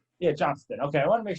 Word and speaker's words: Johnston: It's Johnston. Yeah, Johnston. Okay, I want to make sure I was pronouncing it right.